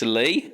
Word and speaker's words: Lee: It's me, but you're also here with the guy who rhymes with me. It's Lee.